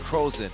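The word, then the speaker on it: Crozon: but it's actually pronounced Frozen oh almost like frozen I know man well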